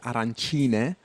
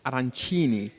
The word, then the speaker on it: arancine: the east of sicily they're called arancine and in the west of sicily as we were today in the west um they're called arancini very strange that undermines